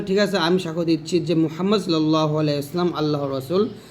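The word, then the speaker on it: محمد: আশহাদু আনা মুহাম্মাদার রাসুলুল্লাহ এখানে মুহাম হা চাপ বলতে হবে মুহাম বলতে হবে তো আমি যদি এটা বলি তাহলে ঠিক আছে আমি সাক দিচ্ছি মুহাম্মদ সাল্লাল্লাহু আলাইহি সাল্লাম আল্লাহর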